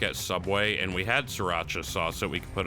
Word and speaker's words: Sriracha: And there was this old man who never knew how to say it. So he always he always would come in and ask for the Syria Chi-Chi sauce.